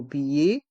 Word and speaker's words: billet: un billet plein tarif dans le mot billet les lettres e et T font le son e un billet plein tarif